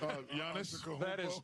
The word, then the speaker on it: Giannis: Giannis.